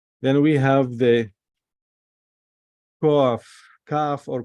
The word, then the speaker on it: kaf: Then we have the kaf, kaf or kuf. I like to pronounce it kaf.